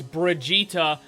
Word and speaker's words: Brigitte: is finally here guys the name and the pronunciation that they're giving us is Brigitta and this is an